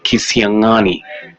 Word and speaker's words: Kitengela: There's an apostrophe on the NG. Kitengela. Actually, that's how you pronounce my name.